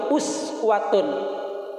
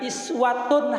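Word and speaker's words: أسوة: Ada sebagian ulama membacanya laqad kana lakum fi Rasulillahi iswatun hasanah. Iswatun di bawah kasro, iswatun. Ada ulama mengatakan uswatun.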